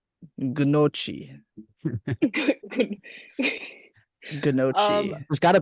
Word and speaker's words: gnocchi: your favorite way to prepare nochi? Gnocchi. Gnocchi.